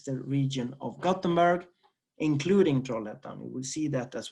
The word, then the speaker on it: Trollhättan: You can see it's pronounced Ä, so it's Trollhättan.